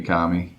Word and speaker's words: Kami: Yeah, it's Kami.